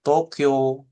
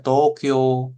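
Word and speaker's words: 東京: Cara baca kanjinya ini tou dan kyo, gitu ya. Ada U-nya sebenarnya, seperti itu. Oke, tapi cara melafalkan gitu ya. Dia Tokyo gitu ya. Tokyo gitu ya, seperti itu ya. Jadi U-nya nggak dibaca, tapi O-nya dipanjangin. Tokyo gitu ya.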